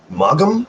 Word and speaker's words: Maugham: Maugham? Is that how you pronounce his last name?